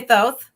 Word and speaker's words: Thoth: tarot you know that's totally so you say Thoth okay I want to weigh in on pronunciation I say those two okay okay I